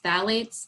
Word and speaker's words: phthalates: Another ingredient that can be harmful is phthalates, another one that you're not going to see listed on the label. Phthalates, that's spelled with a P, probably seen P-H-T-A-L-A-T-E-S, I think it is, and that's a component of fragrance.